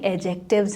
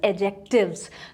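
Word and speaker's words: adjective: है एक्चुअली ये सारी एडजेक्टिव्स हैं अच्छा एक और चीज एडजेक्टिव गलत प्रोनंसिएशन है सही प्रोनंसिएशन में डी साइलेंट है तो राइट प्रोनंसिएशन इज एडजेक्टिव्स तो ये सारे वर्ड्स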